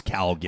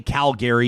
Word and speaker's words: Calgary: calgary versus calgary yeah it is not calgary from outside california well yeah but people from outside alberta can pound sand on how they pronounce calgary i tell my partner that you know that well you just you know that if you say calgary you are not from calgary yeah it's calgary it's the calgary flames the calgary tower and the calgary variant at the calgary stampede that's how you pronounce it may i show